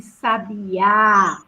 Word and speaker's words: sabiá: a diferença sabia que sabiá sabiá sabiá né abre a termina aí a vitamina Qual é a sílaba forte do Sabiá tá biya então eu moxie tona